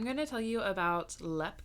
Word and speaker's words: Leap: to tell you about LEP castle and it's spelled leap like l e a p I think I've heard